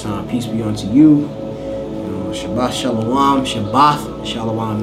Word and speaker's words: Shabbat: All right, last character is a tha, but you pronounce it as ath.